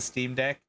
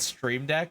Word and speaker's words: Steam Deck: I hate that it's called the Steam Deck. Just because I keep feeling people are literally mispronouncing it with Stream Deck, and I'm like, so people are like, I got a Steam Deck.